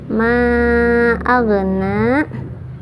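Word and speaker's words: ما أغنى: Ma aghna, jangan mantul karena bukan qalqalah tapi harus ngalir. Ma'agna, jangan ma'agna, jangan ya, tapi harus ngalir huruf ghain itu dari ujung tenggorokan.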